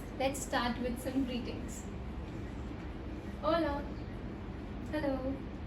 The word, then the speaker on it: hola: Hola. Hello. Hola. It's not cola, it's hola because h is silent in Spanish.